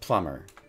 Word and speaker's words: plumber: So the B needs to be silent. Plumber.